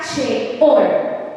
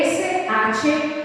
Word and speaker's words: Sheol: En hebreo significa Sheol. Se escribe S-H-E-O-L.